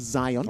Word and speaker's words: Zion: wrong i do apologize i said zeon it is zion okay uh so he